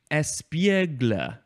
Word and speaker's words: espiègle: The first one is pronounced interesting. I think it is pronounced espiègle. Espiègle. And it is spelled E-S-P-I-E-G-L-E. There is an accent on the E in the middle that is up on the left and down on the right.